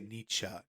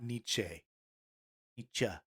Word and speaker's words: Nietzsche: Theodore Dostoyevsky Martin fancy people say Nicha not niche teacher okay it's Porsche Porsche